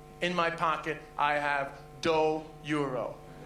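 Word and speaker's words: dó: Two is doe. Doe is two.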